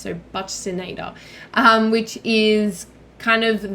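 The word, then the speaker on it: buccinator: with that one but Sonata because I know it's not Buccaneer it's it's pronounced with an S so but sinata um which is kind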